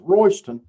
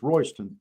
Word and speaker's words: Royston: And that's that's pronounced Royston and it's and it's spelled Royy's ton, you know, like it belongs to somebody, but it's Royston, but you know.